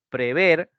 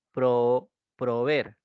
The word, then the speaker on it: prever: tiene dos entonces tú tienes que decir en este caso prever y no proveer Sí proveer perdón proveer no se dice se dice prever ya prever con doble